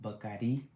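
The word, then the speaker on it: Bacardí: We went to um they pronounced Bardi. We've been pronouncing it wrong. They pronounce it bakadi.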